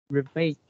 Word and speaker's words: ravage: not downright obese, diabetic, ravaged by terrible heart and lung diseases, and often cancer. Okay, last line. This is pronounced as ravage, and you pronounce as revenge.